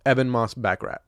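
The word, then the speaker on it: Ebon Moss-Bachrach: Eben Moss Backrat.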